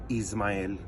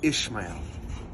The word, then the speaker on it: Ismael: not pronounce my name Ismael and I had many many teachers always say Ishmael Ishmael Ishmael Ishmael she drive me nuts but it's not ish it's is it's ISM my name is Maya